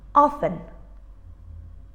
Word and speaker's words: often: And all these words have in common a silent T. We don't say things like listen or castle. We say listen, castle. So we write the T, but we don't pronounce it.